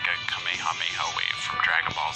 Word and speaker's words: Kamehameha: differently over the years some pronounce it as kamehameha kamehameha and others have said kamehameha apparently that is the more correct way to say it I'm sure I'm gonna